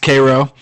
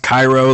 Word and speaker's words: Cairo: the river here in Cairo and it it is somebody asked me about this the other day it is pronounced Cairo it's not pronounced Cairo like the the city in Egypt that was something that